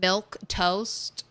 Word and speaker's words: milquetoast: Like, "Do they really want me to pronounce this word? Milk toast."